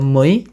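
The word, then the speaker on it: мы: Lanjut untuk kami ada mei ya, sama seperti we kalau dalam bahasa Inggris mei.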